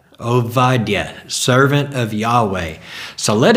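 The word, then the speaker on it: עובדיה: no B in the Hebrew language the pronunciation is ovadia ovadia servant of Yahweh so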